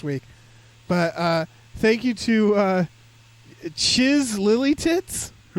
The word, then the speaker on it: Chyzz: But thank you to Chiz Lily Tits. They in parentheses says rhymes with jizz, so I assume it's the first.